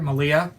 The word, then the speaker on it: Malia: Malia, rhymes with Maria.